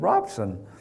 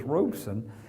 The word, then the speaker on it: Robson: I said, what's the pronunciation of your name? And he said, Robson. I said, well, all I hear is Robeson. He said, and I just finally got tired of telling the announcers, so we just said, okay, fine.